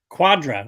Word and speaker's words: Cuadra: say your last name quadra pretend there's a q instead of a c well i will tell